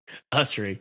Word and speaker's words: Usrey: Usrey.